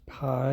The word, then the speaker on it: pi: It's the letter is spelled as pi epsilon iota and its pronunciation is pi and it sounds like the letter p.